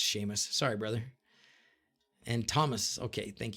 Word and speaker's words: Seamus: Of course it's pronounced Seamus.